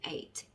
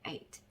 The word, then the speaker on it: eight: 그래서 I 밑에 그냥 그대로 적어주시면 되고, GH는 물론 여기 중간에 나올 때는 묵음인 경우가 많다. 그래서 GH 밑에는 아무것도 적어주시면 안 되고, T 밑에는 T 이렇게 해서 적어주시면 되겠습니다. 그러면 이 단어는 발음이 eight 이렇게 되겠죠.